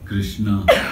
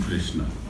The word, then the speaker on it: Krishna: It is not Krishna. In English they write it Krishna, K-R-I-S-H-N-A, Krishna. They add A in front of all the names. So, and there is no vowels in Krishna. It's not K-R-I, it's not Kri, and it's not Shna. The real pronunciation is one syllable.